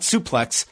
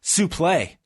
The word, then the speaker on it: suplex: Not suplex, suplex. Yes, that's right. Didn't he say that there was a difference? I had just always understood it that was the official proper pronunciation of it.